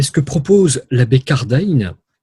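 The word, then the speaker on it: Cardijn: que propose la bête car d'aïn je prononce à la néerlandaise avec car daniel joseph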